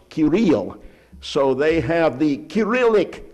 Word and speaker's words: Cyril: of the monks was Cyril, or as it should be pronounced, Kirill.